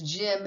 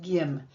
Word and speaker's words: gym: It says agile and not agil. And it says gym and not gim.